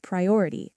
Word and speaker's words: priority: First word, priority. Say it with me. Priority. The stress is on the second part or priority English is my priority this season.